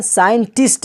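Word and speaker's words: scientist: साइंस में भी एस आया है, उसके बाद सी है, उसके बाद आई है, तो वहाँ पर सी साइलेंट हो गया है। इसी तरह साइंटिस्ट है, एस के बाद सी है और सी के बाद आई है, तो क्या हो गया?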